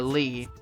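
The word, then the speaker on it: Leigh: family member is a Lee and spelled the same way unfortunately l-e-i-g-h and yeah it's but it's pronounced Lee l-e-e not l-a-y but lay okay I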